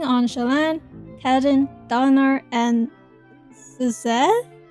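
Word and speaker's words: Szeth: I'll be focusing on Shallan, Kaladin, Dalinar, and Seze? Sez?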